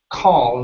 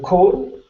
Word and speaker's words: call: next up we have the word call instead of Co it's an a sound call call themselves call good one more time call